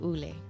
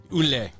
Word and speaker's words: Yle: That's correct, and I believe they pronounce it Ule. Ule. Well, see, there we go. Ule. They didn't phonetically spell that for me on And there. I don't speak Finnish, so I could have said it wrong, but I think that's how I interpreted they pronounce it.